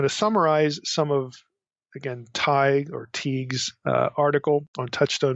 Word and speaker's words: Tighe: appears online by William, I don't know if you pronounce his name, Tighe or Teague. It's Tighe.